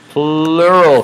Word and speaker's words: pleural: And yeah, that's spelled P-L-E-U-R-A-L, not P-L-U-R-A-L. It's kind of funny that they're called the pleural cavities because, you know, you have 2 of them, and 2 means like plural, right?